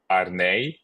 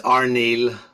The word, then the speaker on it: Arneill: Today we are speaking with Arneill. Is that how you say your last name? No. How do you say it? It's Arneill. Arneill, okay.